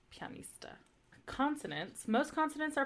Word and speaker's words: pianista: okay and then um you have like pianista so it's an IA so it's pronounced like a y pianista consonants most consonants are